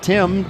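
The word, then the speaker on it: Tymn: three consecutive vowels and his last name spell tim t-y-m-n as in him like you sing in church second down and eight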